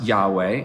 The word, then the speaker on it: Yahweh: the hebrew name of god read aloud it's pronounced yahweh and in certain traditions particularly the jewish tradition